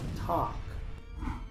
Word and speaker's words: talk: Muchos pronuncian esta palabra talk, pero aquí la l es muda, así que solo se pronuncia la t, la a y la k. Esta palabra se pronuncia talk, palabra número cinco.